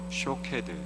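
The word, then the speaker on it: שׁוֹקֵד: 살구나무와 그리고 이 지켜본다의 히브리어 원어의 발음이 비슷합니다. 살구나무는 히브리어로 샤케드, 그리고 지켜본다는 히브리어로 쇼케드. 그러니까 하나님은 이 두 가지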